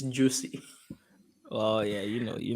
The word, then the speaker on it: Jussie: could pronounce that name Chappelle said it's juicy oh yeah you know